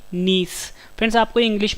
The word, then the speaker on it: gneiss: सही आंसर है option D नीस। Friends आपको इंग्लिश में वर्ड भी याद रखना है, इसकी स्पेलिंग है GNEISS, जिसमें जी साइलेंट है, यानी नीस जो है जब ग्रेफाइट